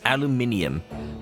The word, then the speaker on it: aluminium: said iron as iron he did not say aluminum as aluminium probably because of years